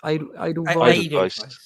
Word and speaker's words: Edelweiss: Do you pronounce it Edelweiss? Edelweiss.